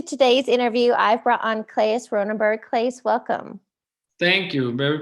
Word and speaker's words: Claes Ronnenberg: I want you to pronounce your name because you live in Europe and I know I butchered it. So you introduce yourself. My name is Claes Ronnenberg.